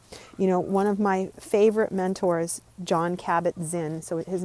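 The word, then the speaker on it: Jon Kabat-Zinn: One of my favorite mentors, John Kabat-Zinn, so his name is spelled Jon, and Kabat, Kabat, and then Zinn, Zinn.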